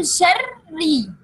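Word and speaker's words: شَرِّ: When we want to pronounce it, we will pronounce it with two ra. Okay. First of them is second, and the second is with kasra. So, min sharri.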